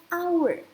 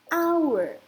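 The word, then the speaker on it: hour: our ini kan dibacanya our our berarti pengucapannya kan diawali dari huruf hidup aiueo our our makanya dia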